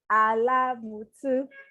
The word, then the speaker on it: Alamutu: Adesola Aduke Alamutu, because she just taught me how to pronounce her last name.